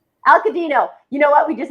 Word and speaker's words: Alcadinho: It's November 22nd, and it's Craft Your Grand Giving Story with Deb Alcadinho. Alcadinho. Alcadinho. You know what? We just had a lovely conversation about it. The H is silent, and now the H is sticking out of my head like a sore thumb.